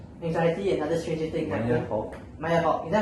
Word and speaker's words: Maya Hawke: I appreciate Maya Hockey played anxiety and other Stranger Things. Maya Hawke.